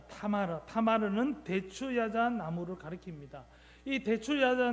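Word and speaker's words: תמר: 자, 그다음 예, 다마르의이 히브리어 발음은 타마르입니다. 타마르.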